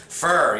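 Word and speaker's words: phở: I think I pronounced that right, because the last time I called it pho, and then I got a bunch of people telling me I didn't pronounce the name of the dish correctly. Pho, yeah, that's the right pronunciation for it, P-H-O.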